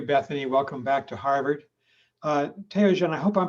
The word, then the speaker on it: Theogene: Theogene, and I hope I'm pronouncing your name correctly, is a student at Harvard Medical School. Theogene Ngirinshuti: That's the right way to pronounce my name.